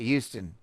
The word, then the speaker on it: Houston: born in Houston and that's how you say it Houston say Houston Texas there's no it's not there's no h it's it's Houston it's like you go but it's not a h sound it's Houston Houston Texas welcome back